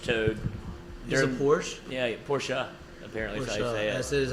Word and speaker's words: Porsche: Yeah, Porsche.